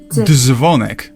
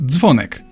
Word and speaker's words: dzwonek: It's not dzwonek but dzwonek.